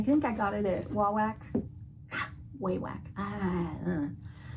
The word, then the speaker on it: Wawak: i got it at wawak whey whack i know i'm saying it right wah wack it just doesn't sound right but i opened this